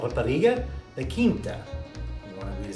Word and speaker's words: Rapariga: So tonight we're going to have Rapariga the Quinta. Can we all say that together? Rapariga the Quinta. Now if you say it like barriga, barriga is tummy.